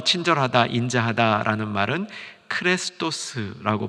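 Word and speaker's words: χρηστός: 헬라어로 이 친절하다, 인자하다라는 말은 크레스토스라고 발음합니다.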